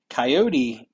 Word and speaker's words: Coyote: Coyote. Am I saying it right? Do you say coyote like Coyote the animal? Just like the animal.